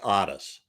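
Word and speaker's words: Ottis: makes Otis, his Otis, which was spelled with 2 T's, OTT. Oh, there's he had an Otis. Oh, that's funny. And then it was pronounced Otis, and he was a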